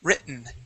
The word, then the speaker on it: written: Written. Written. Okay, that T is more pron it's pronounced sort of like a an inflection in our voice. Writ. Okay, that's how we say that.